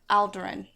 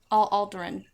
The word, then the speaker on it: Alderaan: Alderaan. Alderaan. Yep. Alderaan. Alderaan. Okay. And they pronounce it a few different ways, but yeah, Alderaan, Okay.